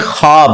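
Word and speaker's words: خواب: शैतान नहीं आ सकता अच्छा ये लफ्ज लिखने में है ख्वाब खवा व अलिफ बा लेकिन पढ़ने में यह ख्वाब है व साइलेंट हो जाता है ख्वाब पढ़ा जाता है ये लफ उर्दू में ख्वाब खवाब नहीं है ख्वाब लिखने में खवाब है तो फिर उन्होंने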